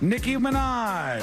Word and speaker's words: Nicki Minaj: It rhymes with Sticky Minaj. Nicki Minaj.